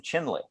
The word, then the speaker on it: Chinle: beginning of your chapter is your experience in Chinle. Am I pronouncing that correctly? Chinle, yes, Arizona? Yes, yeah. Chinle.